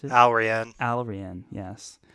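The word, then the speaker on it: Allrianne: oh rhian chet's daughter rhiann that's how you pronounce it alright already yes already already all right i think you got there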